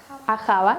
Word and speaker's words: Ahava: Porque se sitúan en el río Abá, ¿cómo se pronuncia? Ahava, gracias.